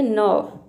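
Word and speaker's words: nerve: नस देखिए इसको हम नर्व नहीं बोलेंगे ये होता है नव नव जो कि नस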